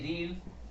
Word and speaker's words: read: ध्यान रखना, READ रीड, READ रेड और READ रेड, ये सेकेंड फॉर्म